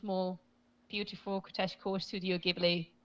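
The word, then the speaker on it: Ghibli: Beautiful CES cor Studio gibli or jibli I don't know to pronounce it in English I say gibli in Spanish but I think you guys say jibli no I think it's gibli it's I think jibli is a mispronunciation something so yes stics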